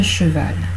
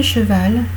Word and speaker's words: cheval: Alors, lorsque le E devient muet, il peut changer la prononciation d'une consonne. Par exemple, je prends. Je me suis fait une queue de cheval. D'accord? Cheval. Vous avez le che, souvenez-vous en tout début, le che c'est une consonne sourde.